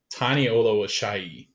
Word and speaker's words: Tani Oluwaseyi: Yeah, we get the media guide, so it's I think it's Tani Oluwaseyi is how it's pronounced.